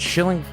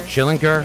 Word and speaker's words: Schillinger: With us tonight, we've got Amy, is it Schilling? I get it wrong. Schillinger. Yeah. I was going to do the soft G. I'm glad she corrected me.